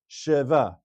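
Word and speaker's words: שווא: So this word actually should be pronounced as sheva because the sheva under the shin of the first letter is a Sheva Na, meaning it's pronounced.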